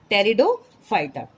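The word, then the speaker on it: Pteridophyta: Pronunciation आप देखेंगे पी से नहीं है, टी से है. टेरिडोफाइटा.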